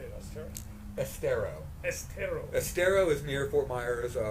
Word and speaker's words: Estero: Estero.